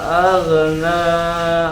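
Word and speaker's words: أَغْنَى: Ma aghna anhu maluhu wa ma kasab. Huruf ghainnya ditebalkan.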